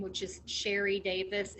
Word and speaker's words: Sheri: is simple it's under my name which is sherry davis it's spelt differently it's s-h-e-r-i and then davis so